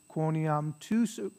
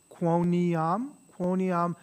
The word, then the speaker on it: quoniam: dexteram Patris, miserere nobis, quoniam, so three syllables, quoniam tu solus sanctus, tu solus dominus, tu solus altissimus, Jesu Christe, cum sancto spiritu, in gloria Dei Patris, amen.